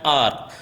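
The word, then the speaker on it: hour: For example, an R. So I said an R. Okay, the spelling of the word is H-O-U-R, but when we actually pronounce this particular word, it sounds like R.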